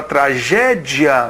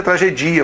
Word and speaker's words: tragédia: No caso aqui, a palavra tragédia só admite essa pronúncia. Tragédia. Não tem como ser tragedia, por exemplo, né?